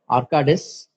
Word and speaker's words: Arcadis: pronunciation. I hope it's right. It's Arcadis.